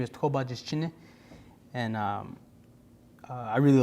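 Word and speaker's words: Tó Bájíshchíní: And this is Born for Water, and how you say his name is Tobajischine.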